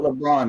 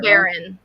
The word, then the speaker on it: LeBaron: is it LeBron? Do I keep it? It's saying it wrong? LeBaron.